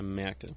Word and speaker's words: Merkel: Do you pronounce it Angela Merkel or Angela? Angela Merkel. Merkel.